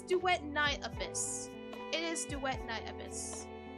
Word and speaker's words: Duet Night Abyss: It's duet night abyss.